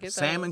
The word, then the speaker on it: salmon: get a vaccinated sticker salmon color you know you don't pronounce the L then I see them